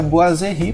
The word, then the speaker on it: boiserie: Mas ele se pronuncia Boiserie porque ele é um elemento natural da França, né?